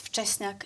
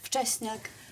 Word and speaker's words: Wczesniak: It's Wczesniak. It's Polish surname, so a lot of people have problems pronouncing it.